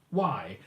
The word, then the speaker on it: Kvickly: It's not spelled as you would imagine with a Q, it's spelled differently with a K, Kvickly. Kvickly. Very, very Danified way of doing that.